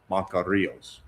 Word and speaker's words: interbancarios: No, but you were leaving out the IOS. Bancarios. Bancarios.